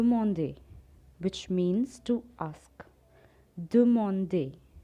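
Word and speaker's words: demander: which means to ask do monday there are three syllables do monday to ask ninth one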